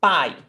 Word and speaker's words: pai: Ah, A is pai. You almost don't hear E. It's very subtle. It's very weak.